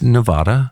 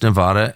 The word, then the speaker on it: Nevada: so I never do it's Nevada like Vlad and it's Nevada and in the last say 30 years I grew up going to Nevada yeah and we had a house in Nevada and everyone called it